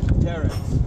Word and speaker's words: Terex: The Terex T560. What's the first word? Terex. Spell it.